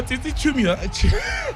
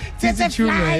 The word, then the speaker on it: Tsitsi Chiumya: Need Is Laugh, this Friday's episode, we have Tsitsi Chiumya. Chiumya, yes, Chiumya, yes. Completely Chiumya. just butchered your name. I know. No, Tsitsi Chiumya. Got it right. Tsitsi Chiumya, yeah.